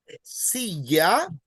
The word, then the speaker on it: silla: So if a word ends in a vowel, you stress the second last syllable. Also, if a word ends in N or S, you stress the second last syllable. But if a word ends in a consonant other than N or S, you stress the last syllable. That's why you would say silla, and then you would say proyector.